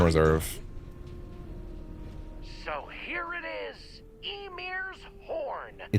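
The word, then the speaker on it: Ymir: According to ancient Norse mythology, Emir was the first Yotan, a frost giant. At least he pronounced that right.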